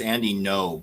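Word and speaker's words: Andy Ngo: How do you pronounce his name? NGO Inga. And I think it's Andy No, but it's NGO, but it's Andy No, I think.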